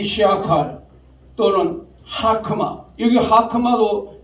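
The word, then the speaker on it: חכמה: 여기 하크마도 제가 왜냐하면 호크마라고 이 호크마는 뭐냐? 영어 발음이 영어 발음. 근데 하란 말이에요. 모음은. 그러면 안 되는 거죠. 그게 뭐 성경에 뭐 쫙 깔렸어요. 아주 영어 발음으로 저기 하는 게 하잖아요. 깨무트 아잖아요. 아. 그래서 하크마 가래 끓는 목소리로 해가지고 하크마 그 자는요 사실 무음이에요.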